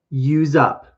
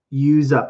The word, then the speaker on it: use up: Okay, your next one, use up. Use up. And it has a Z sound. Even though I see S, I say Z.